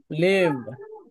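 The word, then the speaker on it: leave: ভ না, লিভ। ভর মতো হবে ভ। লিভ, ত্যাগ করা, লিভ। ছেড়ে যাওয়া, যেন জিহ্বা নাই এইভাবে উচ্চারণ করা, লিভ। ঠিক লিভ। আছে, উপরের দাঁত লিভ। নিচের লিভ। ঠোঁটের ভিতরের দিকে নিচে লাগিয়ে দিবেন, তাহলেই হবে।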